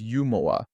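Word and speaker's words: ユーモア: ユーモア、 When the word humor was introduced to Japan, Japanese people must have heard this word as yumoa, which led to the katakana written with yu.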